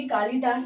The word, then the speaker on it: कालिदास: तरह से कालिदास जो कवि कालिदास है संस्कृत के उनके नाम में ल में छोटी ई की मात्रा आती है ना कि बड़ी ई की क्योंकि ये बहुत